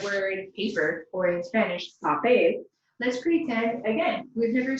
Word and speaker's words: papel: Following rule number 2, we know that the stress must naturally fall on the last syllable of the word, because the word papel ends in a consonant other than N or S.